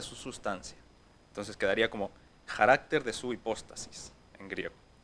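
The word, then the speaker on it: χαρακτήρ: primera palabra está aquí es la 5481 se pronuncia carácter y es la traducción de la imagen misma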